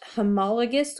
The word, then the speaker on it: homologous: look kind of weird to you guys it's pronounced homologous chromosomes homo meaning same logos or lagus from